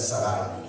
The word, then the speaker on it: Sarai: Cuando su padre Terra aún vivía, Abraham se casó con Sarai, o Sarai, dependiendo, si tienes la Reina Valera es Sarai, pero realmente la mejor pronunciación es Sarai, la esposa de Abraham.